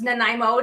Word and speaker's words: Nanaimo: i got to bring her down yeah it's nanaimo did i say it right yes me so